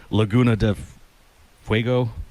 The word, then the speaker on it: Laguna de Fuego: This one's chili Laguna de Fuego, I guess.